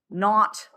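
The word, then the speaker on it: naught: It's if you take carbon which is graphite in its standard state because remember that little H is pronounced not.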